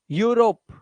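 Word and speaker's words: Europe: इसी तरह से इयू को यू से पढ़ना है। जैसे यूरोप देख रहे हो? इयू को किससे पढ़ रहे हैं? इयू से नहीं यू से। यू यूरोप यूलॉजी यूलॉजी।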